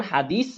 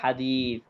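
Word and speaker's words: حديث: করবো মন দিয়ে শুনেন আগে যেমন হাদিস বলবো না বলবো হাদিস তা অর্থাৎ এতটা আলতো করে যেটা হয়তোবা আমাদের কান পর্যন্ত আসবেও না কথা কি বুঝতে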